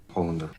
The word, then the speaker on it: Hollander: If you watch the show, I know it feels like I mispronounced Shane's name. So, I'll let the expert demonstrate how it's supposed to be said. Hollander.